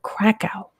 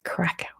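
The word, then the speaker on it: Kraków: We're moving off to Eastern Europe now to, as we say in America, we call it Krakow. I know that's not how you say it, but that's how we say it in American English. It's Krakow.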